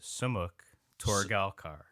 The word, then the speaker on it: Sumukh Torgalkar: So the proper is Sumukh Torgalkar.